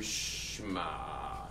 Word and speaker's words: Shema: And by the way, the ayin's guttural. So you have to be like Yemenite to do it right. Only the Yemenites know it, like real pronunciation of Hebrew.